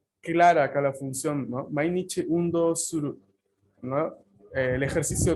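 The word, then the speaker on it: 毎日: Undo o Espera, antes no les dije la pronunciación de esos kanji, es mainichi, Mainichi.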